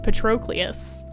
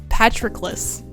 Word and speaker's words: Patroclus: his ill-fated romance with petrocleus petrocleus how do you say that hold on patrocles pronunciation patroclus i was saying it wrong patroclus there we go should